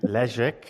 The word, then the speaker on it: Leszek: I'm with Leszek.